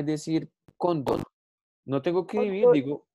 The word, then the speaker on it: cóndor: Entonces yo puedo llegar acá y decir cóndor.